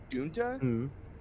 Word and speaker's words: DUUNXHAHH: I had an idea of naming a bunny Dunta, DUUNXHAHH. What? Yeah, it's pronounced Dunta.